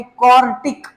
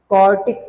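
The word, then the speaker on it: quartic: उसका नाम होगा भाई क्वार्टिक। आई एम not saying क्वाड्रेटिक, आई am just saying क्वार्टिक।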